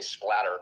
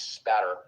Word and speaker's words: spatter: A lot of people mispronounce it say splatter with an L. It's spatter.